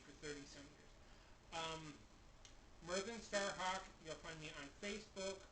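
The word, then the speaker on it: Myrddin Starhawk: t a r h a w k it's pronounced Merin Starhawk the DV is pronounced th well part of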